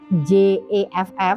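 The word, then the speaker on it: Gef: Tapi, pengejaannya ini cukup unik. Bukan J E F F seperti pada umumnya pengejaannya itu J E F gitu ya. Tapi, dibacanya Jeff gitu.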